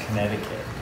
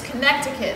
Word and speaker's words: Connecticut: like maine vermont connecticut it's pronounced connecticut justin you know the bathroom's right over there oh yeah i know no it's connecticut there's three seats you put the second sea style i mean